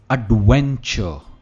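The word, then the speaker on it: adventure: सबसे पहला, एडवेंचर, एडवेंचर। हम चर नहीं कहते, आर इसमें नहीं प्रोनाउंस होता है, एडवेंचर, एडवेंचर, जिसे हम कहते हैं बहुत ही सही, राइट।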